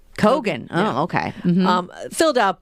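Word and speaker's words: Keoghan: know how to say his last name but kogan kogan oh okay um filled out by what seriously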